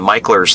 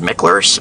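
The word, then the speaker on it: Mickler's: I'm going to take you down to Michler's Landing. And it looks like it's spelled Michler's, but it's actually Michler's.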